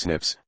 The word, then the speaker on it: SNPs: Bas DNA differences snps single nucleotide polymorphism pronounced as Snips occur in humans this